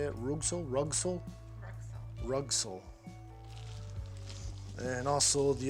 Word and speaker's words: Rugcel: top how do you say it room so rug soul rug soul and also the aluminum fairlead all